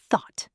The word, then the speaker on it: thought: thought We have the unvoiced th at the beginning.